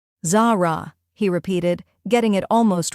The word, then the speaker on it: Zara: Zara, she corrected for the 10th time. Not Zerra. Zara, he repeated, getting it almost right.